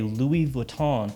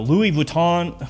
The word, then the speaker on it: Louis Vuitton: u.s and you know people go louis vuitton louis vuitton believe ton and then you hear people say it correctly or whatever you ever